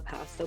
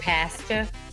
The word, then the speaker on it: pasta: that was at work pasta yeah it was so good what do you say pul I'm so American I didn't realize Canadian said pasta I thought that was just England no what do you